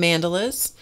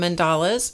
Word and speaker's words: mandala: and by the way you can call them mandelas some of you would probably prefer to call them mandalas and maybe some of you even call them mandelas and any pronunciation is is a okay a okay hi Vicky hey whippy